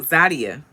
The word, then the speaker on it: Zadia: she does um so zadia that's her name that's how you pronounce it zadia like nadia zadia and naim they had